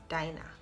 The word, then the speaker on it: Dinah: Even if you go on Google and you ask, how is Dinah pronounced, they will tell you Dinah. That is the right pronunciation of my name, because they try to